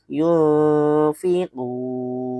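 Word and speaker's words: يُنفِقُونَ: Ya, artinya ada nun mati ketemu fa bacanya itu samar-samar. Dan hukumnya adalah hukum ik ikhfa. Bak gimana? Makanya ada tanda kutip seperti ini. Yunfiquun.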